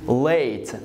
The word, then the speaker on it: late: So I'm gonna pronounce this one as A, which is late.